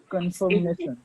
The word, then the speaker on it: confirmation: Confirmation. Okay. It's ma'am, confirmation. Okay. Now this word can be pronounced as confirmation or confirmation. Both are correct.